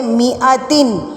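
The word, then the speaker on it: مائة: circle का मतलब है यहां पर हमने अलिफ को नहीं पढ़ना हमने इसको म आ नहीं पढ़ना इसका अलिफ जो है साइलेंट यही समझे यहां पर मीम जर मी है हमजा जबर आ है इसको हम पढ़ेंगे मी अतिन मी अतिन सीनी वजद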